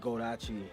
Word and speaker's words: Goldacci: So I just put those Achi and gold together, and which made Goldacci or Goldacci, however you want to pronounce it.